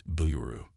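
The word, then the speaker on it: ビール: got to learn is how to say beer in Japanese it's Blu trust me it'll come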